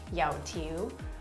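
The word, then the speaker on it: 油條: The way you pronounce it in Cantonese is yao tiu, or there's another way of saying it where it's like yao za guai.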